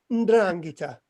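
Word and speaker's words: 'Ndrangheta: No, Ndrangheta. So it's spelled.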